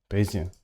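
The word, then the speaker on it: Bayesian: learning statistics for trading how do you say this correctly B I always said basan but base Theory oh Kayla actually part of machine learning so I'm just going to put it here homeboy just said it at least so basian basian I've been saying it right okay sick because I mean it reads beijan to me it's like Asian beian but um you know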